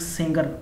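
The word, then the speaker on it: Sanger: And friendly के लिए हम लोग हैं, फ्रेंड मतलब हो गया फ्रेडरिक सेंगर, फ्रेडरिक सेंगर, याद रखिए Frederick सेंगर, Frederick not सिंगर, सेंगर।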